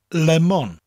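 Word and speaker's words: lemwn: slightly pronounced each syllable in English lemon it almost sounds like one syllable but in Welsh lemon the lemon you distinctly hear the two separate syllables and they said evenly lemon obeah almost sounds like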